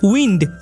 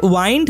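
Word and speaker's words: wind: এটিকে নাউন হিসেবে ব্যবহার করা হয় তখন এর উচ্চারণ হয় উইন্ড। ডব আই এন ডি উইন্ড উচ্চারণ হয়। আর এর মানে হচ্ছে বাতাস। আর যখন এটিকে ভার্ব বা এডজেক্টিভ হিসেবে ব্যবহার করা হয় তখন এর উচ্চারণ দাঁড়ায় ওয়াইন্ড বা ওয়াইন্ডিং।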